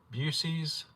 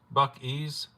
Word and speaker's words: Buc-ee's: I'm pronouncing it Busey's. Oh, I've been saying it way wrong then. They smoke brisket in the store. Busey's. Buc-ee's.